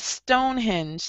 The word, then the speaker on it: Stonehenge: Well, you know, you have Stonehenge. That's how we pronounce it.